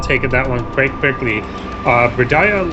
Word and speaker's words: Bradadiah: Alright, Bradadiah, I'm told, is how I pronounce it. Bradadiah. I guess that makes sense. It just feels like an extra syllable to me.